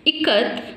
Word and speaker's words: ikat: I, how to pronounce here I as E.